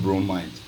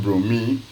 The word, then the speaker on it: bromide: You say potassium bromide. You end the bromine instead of say potassium bromine. You pronounce it as you end it with IDE.